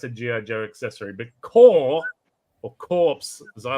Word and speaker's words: corps: knows what Corps are it's probably pronounced core but it's c r PS French for body core mate core now